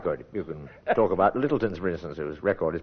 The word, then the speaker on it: Lyttleton: Oh, mine actually is Lyttleton is the pronunciation.